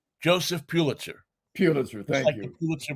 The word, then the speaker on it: Pulitzer: how do you pronounce that name? Joseph Pulitzer.